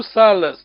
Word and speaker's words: sala: We don't write the double A. This is a phonetic spelling. Phonetic spelling, just to help you to pronounce correctly. We just read one A, sal. So there's two salas. This is sala. Long vowel means stay well, of course.